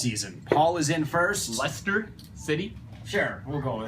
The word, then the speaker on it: Leicester: He pronounced it wrong. It doesn't matter. He knew who it was. That's it. It's Leicester. It's Leicester. It is Leicester.